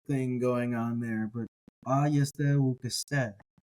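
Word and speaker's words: αἰ ἄγεσθε: They have this kind of symmetrical or balanced acoustic thing going on there, but ayeste ukeste. Even the stress falls on the first syllable ayeste, and then on the last syllable ukeste.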